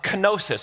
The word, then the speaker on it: kenosis: The Greek word is the word So here's another unpronounceable miracle. It's kenosis.